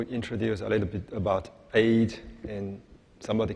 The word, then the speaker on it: Aodh: who's going to tell you a bit about Aodh and Zaqar. Okay, next I'm going to introduce a little bit about Aodh, and somebody call it Aodh, Aodh, A-O-D-H, whatever.